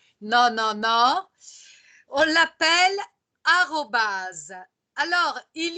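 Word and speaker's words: arobase: Il n'y a rien qui s'écrit comme on le prononce. Mais c'est A-R-O-B-A-S-E. Arrobase.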